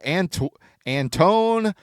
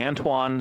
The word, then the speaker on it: Antoine: We have here's a 1-of-1 auto of Antone Semenyo. I would say Antoine Semenyo.